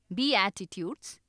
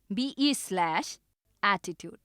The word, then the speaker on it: Beatitudes: है पहाड़ी उपदेश या बीएटिट्यूड्स, जिसकी स्पेलिंग है BEATITUDES, पर मुझे कहना पसंद है बीएटिट्यूड्स, BE/एटीट्यूड।